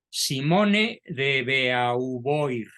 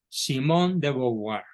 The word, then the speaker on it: Simone de Beauvoir: y además considerando que el vocablo e a u en francés se pronuncia o y el vocablo oi se pronuncia oir Entonces es bua Perdón Simón De bouar quién fue Simón de